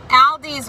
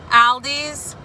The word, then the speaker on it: Aldi: so i belong to a group on facebook it's um it's an aldi's group i know i'm saying it wrong me and my family pronounce it aldi's but i know it's aldi um so i belong to